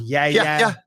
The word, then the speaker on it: Yahya: Apparently, it's pronounced Yaya. I think it's Yayya, but John Gooden set the tone with Yeah.